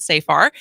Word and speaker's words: Safar: Nicole Nicole Safar who I've been saying it wrong it's so far not so far nice to meet you